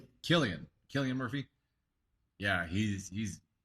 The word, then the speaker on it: Cillian: is it Cillian Murphy is that how you pronounce his name Killian Killian Murphy yeah he's he's super talented guy